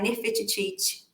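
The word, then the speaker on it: Nefertiti: título de curiosidade né o jeito certo de falar é nerfe IT tem esse it no final todos eles puxam e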